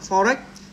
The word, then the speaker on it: forEach: Thì khi phát âm tiếng Anh thì chúng ta phải nối chuỗi này. For này và x này, chúng ta đọc là forex.